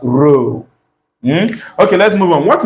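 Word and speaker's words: rho: Pronounce it as row H.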